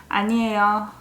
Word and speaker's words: 아니에요: As you can see, it ends with a yo syllable. But as you know, yo at the end sounds more like yo. Lazy yo. 아니에요.